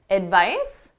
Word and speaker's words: advice: the noun advice so notice that C is being pronounced as an S advice it ends on